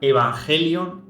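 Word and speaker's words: εὐαγγέλιον: es la número 2098 que se pronuncia evangelion y significa buen mensaje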